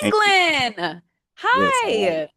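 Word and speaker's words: Englen: England. You got it right. It's pronounced England. Hi.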